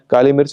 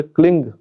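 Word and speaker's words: क्लीं: उसका उच्चारण करना है यहां यहां भी मैं कहूंगा कि यहां क्लीम शब्द का प्रयोग नहीं करना है। जो म वाला जो उच्चारण होता है उसका अलग प्रयोग है।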